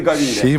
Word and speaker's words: Gabi: 15 dakikada top vermedi gabin farkına vardın mı Gabi Bu arada ve değil b ile okunuyormuş onu söyleyelim Gabi şöyle